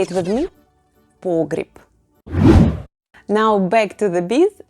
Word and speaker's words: погреб: "A root cellar" is ПОГРЕБ /pogryep/ in Russian. Say it with me: ПОГРЕБ /pogryep/.